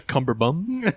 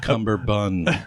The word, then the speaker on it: cummerbund: Anyway, Anybody wearing a cummerbum? a cumberbatch? It's pronounced cummerbund.